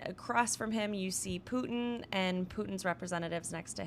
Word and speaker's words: Putin: that for the Russian participants, they have provided pronouncers for everyone, including the president, Putin.